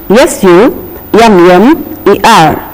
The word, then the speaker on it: summer: look at these spellings s u m m e r summer it has to be pronounced in a lighter manner d r u m